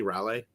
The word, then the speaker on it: Raleigh: Raleigh. There's an emphasis on the syllable.